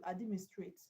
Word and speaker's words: administrate: Now when a word ends with 80 where should you stress third level from the end then you count three levels from administrate th level from the back from it back so the stress will be on mean that's why um option